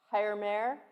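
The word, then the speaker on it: Հայր մեր: morning i forgot to ask you for the pronunciation which i had in my notes higher mayor hired mayor which is the armenian lord's prayer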